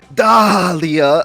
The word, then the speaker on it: Dahlia: From now on, I declare that everyone will pronounce the H in my name. Never again shall that H be silent.